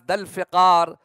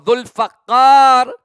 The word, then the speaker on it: Zulfiqar: Imam al-Baqir alayhi salam, when he is asked about Zulfiqar, or sometimes people pronounce it as Dalfiqar or Zulfaqar, Imam al-Baqir was asked,